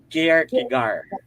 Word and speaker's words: Kierkegaard: Paano bang i-pronounce Kierkegaard? Kierkegaard. Okay, yung Silent T.